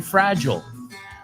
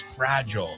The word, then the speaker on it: fragile: We say fragile. Seguro que si ves la palabra dices, oh, I recognize that word. Pero no se pronuncia igual. It's fragile. Some people say fragile.